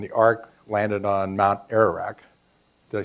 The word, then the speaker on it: Ararat: The Great Flood happened, and the Ark landed on Mount Ararat. Did I say it right, Rich? Ararat, yeah, okay, thanks.